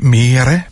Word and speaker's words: Mirai: Oui, Mirai. Ah, c'est quand même possible. J'ai roulé le R en même temps.